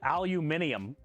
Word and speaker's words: aluminium: Noob about this yesterday why the hell do they pronounce it aluminium do they spell it different is that why they pronounce it aluminium do they put like more vowels in there than we do is that why they say aluminium do they spell it